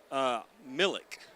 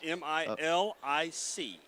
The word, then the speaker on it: Milic: I went with Millick. I have no idea. It's Milic.